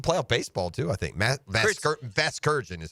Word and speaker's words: Vasgersian: Vasgersian is how you say Kurt it.